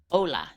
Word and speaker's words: Hola: Hola, the H is silent.